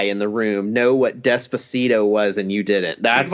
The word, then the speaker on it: Despacito: of all time on YouTube is, and it's Despacio by Louis, I can't even pronounce that name. Louis Fonzi. Oh, that's Despacito.